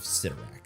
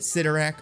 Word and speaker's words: Cyttorak: Is it Cyttorak or is it Cyttorak? First place I found it pronounced was Spider-Man and the Amazing Friends, which was a cartoon from the 80s. And in that, Juggernaut pronounces it Cyttorak.